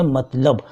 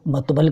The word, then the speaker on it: مطلب: مطبل کہتے ہیں، جبکہ صحیح لفظ ہے مطلب، لیکن اس کو بگاڑ کر اس کو مطبل کہتے ہیں۔ یہ کھڑی بولی کے